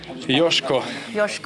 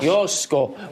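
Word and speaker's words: Joško: Correct pronunciation is? Josko. Josko.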